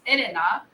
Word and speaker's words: Elena: I think they use the R for the L sound. Ah, okay. So, but my name is pronounced Elena in Japanese, so it's a le, which is an L, but on my passport it says R, which is funny.